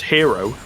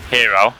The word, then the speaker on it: Hero: Apparently, he's wanting the pronunciation as Hero. So Hero, okay.